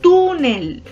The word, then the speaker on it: túnel: palabras graves con tilde por ejemplo la palabra túnel decimos túnel o que la tienda no latido entonces me voy al final y veo que termina con el as y mira termina